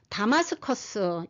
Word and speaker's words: 다마스커스: 근데 다메섹 하면 히브리식 발음입니다. 디마슈크 아람어 발음이고요. 다마스커스 영어입니다. 그리고 다마스쿠스는 라틴어입니다.